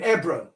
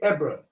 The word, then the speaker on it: Hebron: So I would say Hebron, E-B-R-O-N. It's the same Hebron. The H is silent in the case.